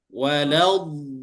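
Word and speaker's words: ولا الضالين: Ini dia mat asli, tapi karena di depannya tasydid, dia berat. Maka wajib dipanjangkan dulu. Nah, ini nanti istilahnya dalam ilmu tajwid namanya nabrun. Nabrun itu naik dulu, naik panjang, tiba-tiba naik. Jadi cara membacanya waladdallin.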